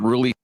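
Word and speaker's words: Rhule: Matt Ruley.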